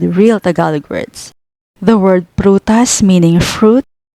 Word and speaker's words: prutas: The first syllable pru starts with a consonant cluster PR or para, followed by a vowel u, and the next syllable tas completes the word. Read it as prutas, prutas.